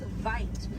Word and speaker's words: wit: Original word for white rhino was vite. Vite means wide in Afrikaans, but over time it was misheard and mispronounced and it turned into the white rhino.